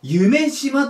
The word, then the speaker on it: 夢洲: 方がすごくてゆえに中洲の砂ねこれで夢芝と言います夢洲最初読めなかった